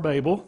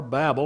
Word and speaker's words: Babel: Tower of Tower of Babel tower Babel or Babel however you want to pronounce that where it was always